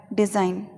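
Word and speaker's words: design: Last है डिज़ाइन, ये इसी प्रकार से बोला जाता है, जी साइलेंट हो जाता है इसमें, डी और जाइन, डिज़ाइन।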